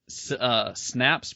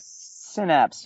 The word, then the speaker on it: Synapse: Andrew, when I was looking on your website, is it Snaps Productions? Am I saying it right? Synapse, yeah, Synapse. like in your brain.